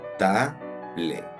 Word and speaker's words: table: Cómo la separarías Table la es muda y vamos a hacer el sonido abierto de la primera sílaba que termina en vocal te y la segunda vamos a hacer una mezcla de los sonidos de la bl B Table Table aquí un